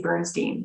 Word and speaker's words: Bernstein: His name is spelt Bernstein, but they say Bernstein.